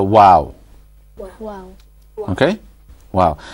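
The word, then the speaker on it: و: lips is the letter wow. Wow. Okay? Wow. And the description of how the wow is pronounced, if you look at the picture, it shows that the lips aren't quite closed.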